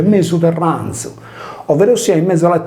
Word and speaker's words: Mesu Terranzu: fungeva da Z sonora, per cui senza la desinenza M del nominativo, poiché il sardo non possiede i casi del latino, il termine si legge mesoterranzo, ovvero sia in mezzo